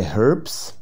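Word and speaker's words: herbs: معالجته بالاعشاب اللي هي هربس واخدينها في المنهج دي برضو اعشاب وقلنا ممكن ننطق الاتش او لا حتى الخمسينيات من القرن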